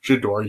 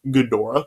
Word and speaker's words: Ghidorah: of the monsters i kept calling him uh jadore yeah his name is actually pronounced godora so yeah i'm so i'm not correcting myself